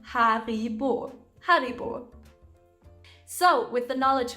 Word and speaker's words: Haribo: we all love these the name comes from the founder Hans regel who lived in B which resulted in the name Haribo Haribo so with the